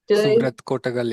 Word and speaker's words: Suvrat Kotagal: Surat Kotagal. Yes. Surat Kotagal. Okay. So, I that's better than many people pronounce it in India.